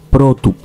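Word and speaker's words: πρώτου: El caso genitivo masculino singular es protu. Sin embargo, aquí podemos ver cómo el acento circunflejo ha cambiado. Ahora tenemos el acento agudo.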